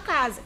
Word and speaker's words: casa: Eu estou chamando, eu faço de conta que alguém se chama casa.